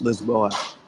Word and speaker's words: Lisboa: lisbon lisbon or for the locals it's loose lisboa this ball lisboa it's yeah it spell completely